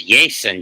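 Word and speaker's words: Jasson: I would pronounce it as Jason Dominguez because it's 2 S's.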